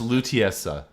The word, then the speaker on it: Lutece: It's pronounced Lutiesa.